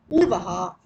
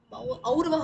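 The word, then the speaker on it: और्व: Uh, Aurva has a, not Urva, let it be Aurva. Aurva is correct. Yeah. Urva, if you write, that will be Dirgha. Yeah.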